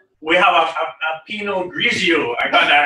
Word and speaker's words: Pinot Grigio: talk to you and tell you how to pronounce it. No problem. Right, we have a Pinot Grigio.